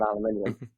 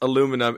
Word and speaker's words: aluminium: okay made out of aluminium sorry you're the first person on this podcast to pronounce aluminum in the uk way and it's just like oh right different continent different english got it yeah we always